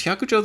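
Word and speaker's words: 百丈: So you just read it hyakujo, which it doesn't sound anything like the Chinese pronunciation Baizhang.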